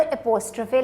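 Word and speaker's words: apostrophe: तो अब ये वॉलेट किसका है, सना का, तो मैंने ऊपर एपोस्ट्रोफे लगाया है, इसको प्रोनाउंस कैसे करना है आपने, एपोस्ट्रोफे, एपोस्ट्रोफे, ब्रेक कर लें, एपोस ट्रफे, ट्रॉफो नहीं कहना आपने, ट्रफे, एपोस्ट्रफे, ओके। अब मेरे साथ ज़रा ट्राई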